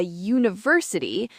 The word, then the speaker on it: university: Yeah, so it's a university because it starts with a U sound, a consonant sound.